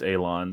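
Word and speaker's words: élan: the consensus Google pronunciation is telling me it's pronounced Alon so we're both learning something here today okay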